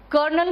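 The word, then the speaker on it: colonel: कर्नल में आर नहीं होता और लेफ्टिनेंट में एफ नहीं होता। इससे सही प्रोनाउंसिएशन है तो कर्नल और लेफ्टिनेंट।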